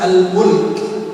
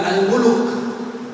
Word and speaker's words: Al-Mulk: Dan membaca surat Al-Mulk. Surat apa? Bukan Al-Muluk. Jangan ikut-ikutan dengan orang. Al-Muluk itu salah.